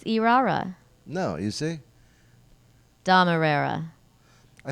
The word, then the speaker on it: Irrera: It's Irrera. Irrera, stupido.